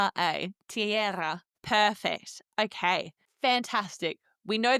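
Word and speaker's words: tierra: So I'm doing the e i t and the era with the e r a tiara.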